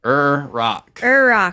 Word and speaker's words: Iraq: but here's a quiz do you guys know the iraqi pronunciation no um is it iraq rock rock rock er rock like the ir makes er rock so it's two syllables still but the er is its own syllable interesting i'm gonna start